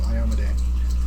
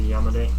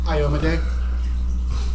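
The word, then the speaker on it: Iomedae: And yes, that is the actual pronunciation, apparently, according to Paizo, Iomade. Instead of Yamade. Yeah. Say it again? Iomade.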